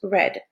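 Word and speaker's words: read: c'est la même forme la même orthographe prétérite mais on prononce raid et c'est un verbes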